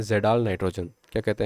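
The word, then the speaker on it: Kjeldahl: Free ammonia और organic ammonia को हम कहते हैं जेडाल नाइट्रोजन। क्या कहते हैं? KJE, यहाँ पे के साइलेंट रहता है, DAHL नाइट्रोजन।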